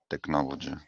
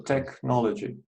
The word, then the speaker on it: technology: technology technology that's technology technology yeah CH in Greek words is always correct so technology okay right please pay attention